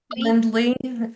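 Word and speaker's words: Calendly: Kalen Kendly I think is how you pronounce it.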